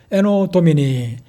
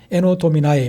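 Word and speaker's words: Anno Domini: 에노 도미니, 에노 도미나이 이렇게 영어권에서든지 미국에서든지 좀 발음이 조금 차이가 있습니다만은 에노 도미나이 주님의 해에 이런 뜻이거든요.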